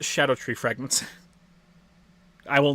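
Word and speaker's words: Scadutree: scadu tree right that's how it's spelled it's pronounced Shadow tree fragments I will not I will not pronounce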